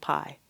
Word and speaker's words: Kpai: I lived in a village called Pai. Pai is spelled Kpai.